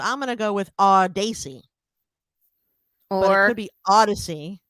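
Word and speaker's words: Audacy: spell it first a-u-d-a-c-y so the end of it is ac like lacey and the beginning is odd like audio so i'm going to go with our daisy or it could be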